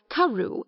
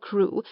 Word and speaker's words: Crew: Madame Pascal pronounced it as if it were Carew instead of Crew, but that might merely be a matter of pronunciation.